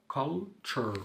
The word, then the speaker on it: culture: culture اللي هي الثقافة culture قلنا T-U-R-E دايما تنطق ايه culture تقاليد traditions Barcelona الاي بعضها قررت نطق اه والاي دي مش هتنطق فولي Barcelona انجلترا England.